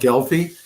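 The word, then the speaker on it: Gelbvieh: raise and you tell us how the they're pronounced please it's it's a German breed it's called gelfi and and the galy breed of cattle uh was introduced in this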